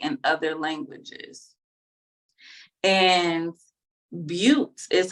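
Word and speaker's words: Beauté: in other languages and Buttes is how you really pronounce it which is French and I just love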